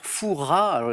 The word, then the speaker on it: Fouras: pose des énigmes candidats le Père Fouras les plus riches ne prononcent pas le S à la fin évidemment j'accepte Michel quel